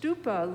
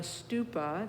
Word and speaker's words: stupa: Tom u p is in Paul a St stupa literally means Mound and it has to do